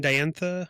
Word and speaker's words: Diantha: Diantha? How do you pronounce her name?